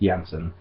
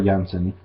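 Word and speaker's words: Jansen: to the Yemen or Jensen I'm thinkin finished it is pronounced Jensen so floor Jensen ah is the new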